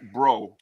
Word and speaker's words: Brault: They pronounce it bro in French. So it's bro.